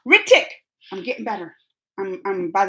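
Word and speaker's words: Hrithik: So they said, and my boyfriend Hithrik, or wait, I said the name wrong. Ritik.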